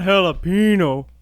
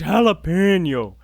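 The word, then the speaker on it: jalapeño: out extremely bassy goodies it's not jalapeno it's jalapeno that's what yeah i know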